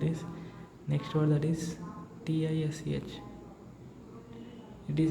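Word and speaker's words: Tisch: a or U so it sounds as is sh sh sh right sh so it becomes as t i s Tish Tish and the meaning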